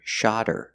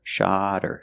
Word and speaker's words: shot her: When you hear they shot her the bird, the T changes to a fast D because the H in her is silent because her is not a stressed word. So you hear shot her, shot her, shot her.